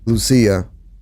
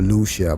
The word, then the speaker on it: Lucia: And please, can all these people just stop calling her Lucia, bro? Just call it by her real name. But call it by how you pronounce the name is Lucia. And that's not because I'm a Spanish speaking person. Even if I wasn't, I still attempt to pronounce the name right.